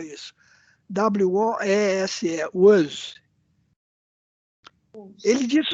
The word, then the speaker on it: Woese: Isso aí, olha, o Carl Woese, o homem que descobriu as arqueias, Woese, como é que você pronuncia isso? W-O-E-S-E, Woese.